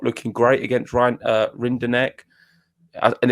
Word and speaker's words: Rinderknech: He's not looking great against Rinderknech. And it's not even Rinderknech as well. It's Rinderknech. Yeah, Nesh.